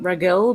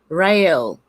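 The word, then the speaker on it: Raguel: a bit misleading but close its name is ragwell some pronounce it ragel but the correct pronouncer's pronouncement is real oh okay i was saying it really wrong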